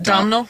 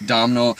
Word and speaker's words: Domhnall: There's this really disturbing scene in the movie too, where Caleb, how do you pronounce his name? Domhnall? Domhnall.